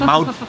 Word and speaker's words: mouth: Mouth tuh ya. Pelafalan TH jangan lupa, nggak dibaca pakai D, bukan mouth, tapi mouth.